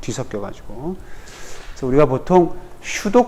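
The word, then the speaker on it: pseudo: 그래서 우리가 보통 슈도 코드를 이용하는데, 이거 묵음이에요. 피자.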